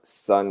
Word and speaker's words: son: So we have son here. And the pronunciation is the same as the sun in the sky. So sun, sun.